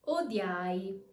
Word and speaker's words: odiai: The E turns into a Y sound, the U turns into a W sound. Let's see some examples. Odiai, odiai.